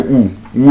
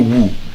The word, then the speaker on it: who: So, but for example, now wh many people say, who are you? Woo. It's not Woo. The W there is silent.